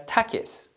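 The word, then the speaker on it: ταχύς: speed of light and the Greek word for fast which is pronounced as Takis we also look into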